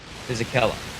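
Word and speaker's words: Fisichella: have the Gian Carlo Fishel I think physella physella that's how it's pronounced uh Sunderland just helping me out in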